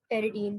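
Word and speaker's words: pteridine: Number one, टेरिडीन ring. टेरिडीन जो है बोलते हैं टेरिडीना, लेके शुरू पी आता है, पी इज साइलेंट।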